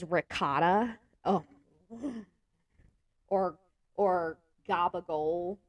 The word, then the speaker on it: ricotta: It's prosciutto, prosciutto, or people say mozzarella, and I'm like, no, it's mozzarella, or it's ricotta, not ricotta. Oh my god, that will like trigger me if someone says ricotta.